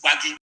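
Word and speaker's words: Gbagi: It is not Gwari, it is Baggy. That is the correct pronunciation.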